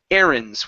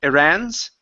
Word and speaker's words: errands: bad boy right here the word is errands with the stress at the very beginning instead of Iran's errands oh there you